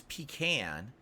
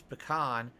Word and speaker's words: pecan: pecan so p on the East Coast it's pecan on the west coast and Midwest it's pecan and then the South it's pecan um can you say